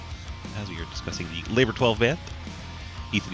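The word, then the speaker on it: Labor XII: you get your music labor X II is how you write it out but you pronounce it labor 12 you have Trent sne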